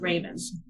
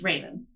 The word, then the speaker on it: Revan: It's spelled Revan. I know. On purpose, but it's pronounced as Raven. It's French.